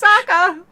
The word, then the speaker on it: Sokka: Rhymes with Sokka.